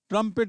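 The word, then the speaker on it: trumpet: ट्रंपेट यानी बिगुल तो उच्चारण ध्यान देंगे ट्रंपेट यानी बिगुल टी आर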